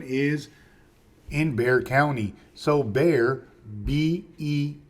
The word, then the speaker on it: Bexar: in Bear County so bear be x a r is pronounced bear like the Bear right so bear the word